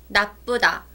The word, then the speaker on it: 나쁘다: Now, if you hear a little bit of a stress on the middle, right? Mm-hmm. A little bit of a stress because it's got the double biup.